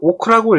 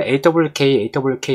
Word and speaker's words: AWK: AWK는 그냥 오크라고 읽기도 하는데 저는 그냥 AWK 이렇게 그냥 말을 합니다.